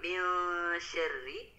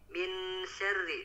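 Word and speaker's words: مِن شَرِّ: di ayat keempat dikata mil syarri, tadi masih kurang disamarkan ya Pak. Tadi terdengarnya masih min syarri dibacanya, belum disamarkan. Lebih disamarkan mil syarri min.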